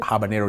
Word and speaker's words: habanero: just picked one of it here it's called habanero yes that's how you pronounce it habanero chili yeah habanero chili yeah in the office